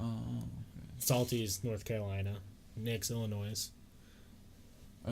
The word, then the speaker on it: Illinois: When you say Illinois, the S at the end is silent. Illinois, yeah.